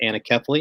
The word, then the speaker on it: anencephaly: Our first child died of a condition called anencephaly, or some pronounce it anencephaly.